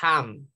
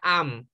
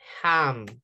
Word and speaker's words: ham: Okay, you need to remember that letter H in English, it sounds like a J.